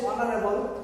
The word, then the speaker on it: honorable: Here honorable is প্রিয় শিক্ষার্থীরা, এখানে এইচ এর উচ্চারণ হ হয় না, এইচ এর উচ্চারণ হয়েছে অ। এখানে H consonant, H consonant, but এর উচ্চারণটা কনসোনেন্ট সাউন্ড হয় না, এটা হয়েছে কি ভাওয়ালের মতো।